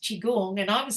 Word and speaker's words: qigong: no right because I'm looking at it going quong and um but it's pronounced chigong and I was saying chiong and you're correcting me and I'll just go